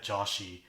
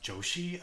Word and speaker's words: Joshi: introduces herself as Maya Joshi the Indian surnames usually pronounced josi um like you're already